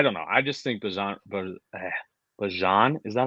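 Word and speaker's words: Bijan: I just think Bajan, is that how you say it, actually?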